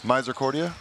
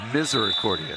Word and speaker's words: Misericordia: that college in pennsylvania misericordia is that correct that is incorrect incorrect that is miser accordion misericordia however you are forgiven because as we know